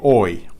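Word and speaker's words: hoy: as the day is the word for today oi and for the first person singular of ser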